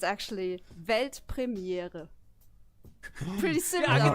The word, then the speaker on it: Weltpremiere: It's actually Weltpremiere. Pretty similar, I right? think I could do that. сказал? Yeah, do it. Weltpremiere.